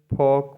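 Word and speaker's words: folk: talk मतलब बात करना एफ ओ एल के फॉक मतलब लोकगीत एन साइलेंट रहता है एम के बाद आता है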